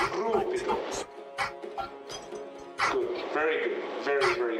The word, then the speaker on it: Rubido: roll the R, John. Rubido.